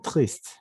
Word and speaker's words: triste: te dices je vais triste. ¿De acuerdo? Je vais triste. Esta E no se pronuncia, pero la S sí porque está a medio de una palabra.